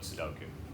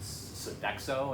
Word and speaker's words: Sudoku: rules I'm horrible at Sudoku I could barely say the word I always say I pronounce it Sodexo and I think that's